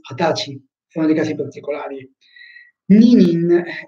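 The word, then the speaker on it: 二十歳: Come anche per l'età, Nijusai, non si legge Nijusai, ma si legge Hatachi, sono dei casi particolari.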